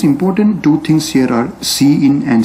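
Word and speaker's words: cin: number one we have c i n which is pronounced as c in so we call this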